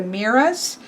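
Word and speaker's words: Moirai: Well, I've always just known them mostly as the Fates, and this is pronounced the Miras, and they are, of course, of destiny.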